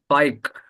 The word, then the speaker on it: Fakeha: Faek. It's somehow difficult to pronounce, but it's Faik.